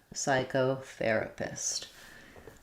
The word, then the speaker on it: psychotherapist: Letters CH say the K sound, and then we have an O. So it'd be like psycho. Psychotherapist.